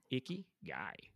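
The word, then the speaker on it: 生き甲斐: that so that's cool i like that word icky guy laura is that the correct pronunciation yes laura said she confirmed it is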